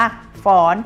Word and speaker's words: ฟ้อน: ไม่ โทร อ่าน หนู อ่าน ว่า ฟ้อน เขียน รูป โท แต่ ออก เสียง เป็น เสียง ตรี ค่ะ ต่อ ไป นะ คะ